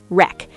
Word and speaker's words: wreck: The letter W at the beginning of certain words before R. Like right. Exactly. Right. Wrong. Wrap. Wrist. Wreck. The W is silent in all of these.